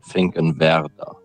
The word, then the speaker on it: Finkenwerder: It's called Finkenwerder.